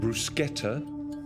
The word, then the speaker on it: bruschetta: The word has two pronunciations. Bruschetta or bruschetta.